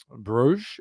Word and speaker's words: Bruges: Bruges being the French one and Brugge being the Flemish one. Locals in Brugge say Brugge, not Bruges.